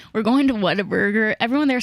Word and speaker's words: Whataburger: kind of what harder Whataburger I say what a burger it's really yeah